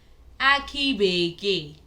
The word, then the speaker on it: Aki Bekee: Aki Bekee, which is coconuts.